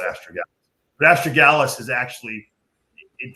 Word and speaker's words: astragalus: And it's funny, estrogen, or people pronounce it different. I call it astragalus.